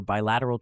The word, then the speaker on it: bilateral: sentence many countries prefer bilateral trade agreements to multilateral ones notice how the stress falls on the second syllable lat understanding the meaning is